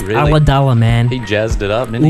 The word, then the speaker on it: Ulladulla: Or Ulladulla, Ulladulla, as I once saw a weatherman from Sydney pronounce it. He had no idea how to pronounce that. He it's really? Ulladulla, man.